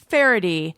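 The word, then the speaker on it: Faherty: like you think or it's pronounced differently than you'd expect from the spelling but it is pronounced farady and it is spelled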